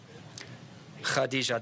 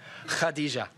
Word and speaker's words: Khadija: his first wife Khadija Khadija the KH will be pronounced ok if you can do that hadiza it's fun to say so she was 40